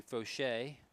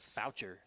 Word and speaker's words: Fauché: Matthew Fauché. And substitution coming on for Caleb Webb. I would have said Foucher, but so thank you for the folks to my right giving me a correct pronunciation.